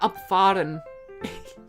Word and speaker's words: abfahren: Oh no, I'm talking about abfahren. This is my pronunciation just being wrong. Abfahren. Abfahren. Like to drive, fahren, abfahren.